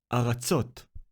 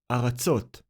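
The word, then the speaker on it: אֲרָצוֹת: The word is Aratzot. Aratzot. The letter Aleph with Hataf Patah sounds like A. The second letter is Resh, and it is decorated with Kamatz Gadol. It creates the syllable Ra. Ra.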